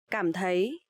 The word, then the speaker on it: cảm thấy: So here you will see the letter C. You will pronounce like letter K in English, and TH you will pronounce like th. So cảm thấy.